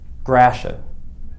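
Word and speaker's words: Gratiot: drive down jefferson avenue grashan there's a detroit pronunciation for you if you ever heard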